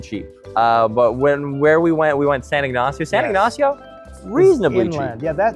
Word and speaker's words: San Ignacio: But we decided that we were going to spend a few nights in a city called San Ignacio.